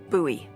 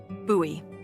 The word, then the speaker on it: Bowie: It's actually pronounced Buoie. What? No, it's like the last name like David Bowie. Different last name. Buoy.